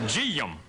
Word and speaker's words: Jim: You learn, for example, the name Jim is a 2-syllable name in the South. It's G-yum.